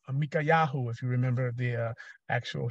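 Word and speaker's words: מיכיהו: Micaiahu, if you remember the actual Hebrew pronunciation.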